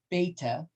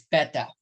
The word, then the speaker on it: beta: lot of people say most say beta but they're wrong it's better i know because i